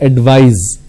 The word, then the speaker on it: advise: in the verb form instead of c you need to use s and it's pronounced that advise so please advise me